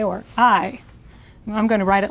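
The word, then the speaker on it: hay: h a y but the H is silent and the a y is like the I of I or I I I'm going to write it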